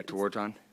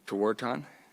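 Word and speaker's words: Tewaaraton: Toarton. Thank you. Can you pronounce it one more time? Toarton.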